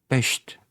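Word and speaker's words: Pest: 그게 헝가리오는 베스트 이렇게 발음하는데 그래서 부더 패스트인데 요게 부다와 패스트로 나눠 있다.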